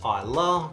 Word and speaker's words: Islay: If you know the person you're buying for likes smoky whiskey, get them something from the Islay region of Scotland. Now it's pronounced Islay, but it's spelled Islay.